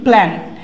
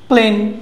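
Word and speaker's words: plane: প্ল্যান। হ্যাঁ, প্লেন, এরকম। সো এটা কি হবে? প্লেন, প্লেন, দেখো একটা এ আছে তারপরে একটা ই আছে, দুটো মিলে কি হয়েছে এই হয়েছে, কি সাউন্ড হয়েছে এই সাউন্ড, প্লেন প্লেন।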